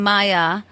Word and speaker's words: Maija: think that yes often I always get either Maja or ma ma or they just look at me strange that's what probably led me to Comedy was getting my name wrong my entire childhood yeah just your name that's amazing now I looked it up the name Maya even though it looks m a i j a the name Maya is